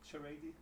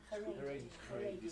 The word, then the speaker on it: Haredi: It's a letter from a solicitor on behalf of someone from a parent at a, how do you pronounce it? Charady? Haredi school.